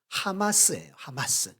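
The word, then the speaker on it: חמס: 이게 발음 기호가 하마스예요. 하마스 어떤 단체 기억나죠? 그거랑 다른 뜻인데 의미인데 참 공교롭게도 포악이라는 단어가 하마스입니다.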